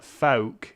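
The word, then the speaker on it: phoque: Candice Lopez says uh folk is how to say seal in French pronounced like the f word oh I could potentially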